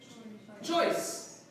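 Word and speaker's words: ϭⲟⲓⲥ: Remember, if it's a iota that's preceded or followed by another vowel, it's pronounced as basically a Y. And then this letter, S. Choice means Lord.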